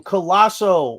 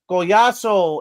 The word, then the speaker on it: Goyaso: My bull spit is um the uh broadcast team just repeatedly pronouncing my quarterback's name Colosso when everybody needs to know it's Goyaso and you know I'm